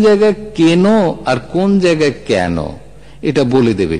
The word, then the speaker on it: কেন: যদি বলা হয় ওই শাড়িটা কেন কেন না, শাড়িটা কেন কেন না, কেন বানান কি কয়েকার আর ন, কেন বানান কি কয়েকার আর ন।